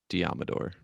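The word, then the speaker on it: Deommodore: tackle Jalen Moore, cornerback Diomodor Lenoir. Love that name. It's pronounced like Commodore, but Diomodor.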